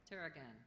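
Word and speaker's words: tarragon: its aromatic foliage that is used in cooking Teragon Teragon Maybe please have the language of origin originally Arabic passed through Latin and then French before becoming English are there any alternate pronunciations Teran Teragon t a r r a g o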